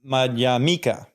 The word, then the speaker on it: Madhyamaka: Pali words, is that the stress is always on the second to last syllable.